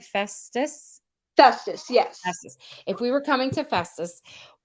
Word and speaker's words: Festus: Festus?